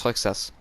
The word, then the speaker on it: Roxas: Mais sinon genre les gens qui jouent avec moi ça se prononce pas Rosax, ça se prononce Roxas en fait.